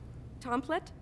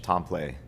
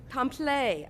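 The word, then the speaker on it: Templet: Tomplet? Is that how it's pronounced? It's poor French, Tompley. Tompley.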